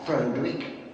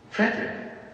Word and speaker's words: Frederick: Do you also say Frodwick? No, Frederick. Well, why isn't it Frodwick Frankenstein? It isn't, it's Frederick Frankenstein.